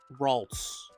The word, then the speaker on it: Ralts: Is it Routes or Ralts? Routes? Ralts. Either way, I don't like it.